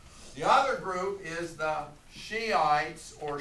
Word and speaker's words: Shiites: h i t s be careful in the pronunciation okay it's not shitties shot okay they take